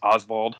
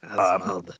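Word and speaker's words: Osvald: I believe his name is pronounced as Oswald. It's like O-S-V-A-L-D. Oswald.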